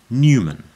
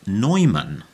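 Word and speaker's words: Neumann: word written on it Newman spelled Neu M A NN which could also of course be pronounced nyman and could well be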